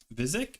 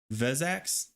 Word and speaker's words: Vezax: If he ever Vizik? You mean Vezax? There we go.